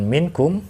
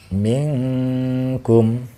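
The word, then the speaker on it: منكم: disana ada kalimat minkum maka cara membacanya bukan minkum tetapi suara Nun matinya itu di samarkan suara menikmatinya didengungkan Contohnya seperti ini Ming Gom atau ming-ming kum air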